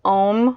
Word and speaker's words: Om: It's Om, which actually comes out like A-U-M.